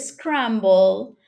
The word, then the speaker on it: scramble: in the word scramble, when we pronounce in English C, it is pronounced scramble, scramble, okay? It's not like in Spanish. C is like a soft sound in Spanish. In English, it sounds like a k.